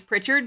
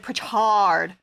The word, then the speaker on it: Pritchard: people who pronounce it pretard or prick hard as like one dude called me once and i'm like bruh anything but that it's like richard but with a p in front of it made it awkward